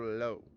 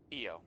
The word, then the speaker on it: Io: Is her name Io or Lo? EO.